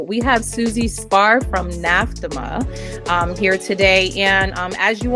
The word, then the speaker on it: NAFDMA: with all of the, how would you pronounce that if we were going to abbreviate? NAFDMA? Yeah, it's exactly it. NAFDMA. That's what I thought. I'm like, I'm pretty certain there's going to be like 3 syllables.